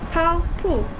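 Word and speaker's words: 跑步: The first one, pronounce the word 跑步 here as if the letter B is P. So, 跑步.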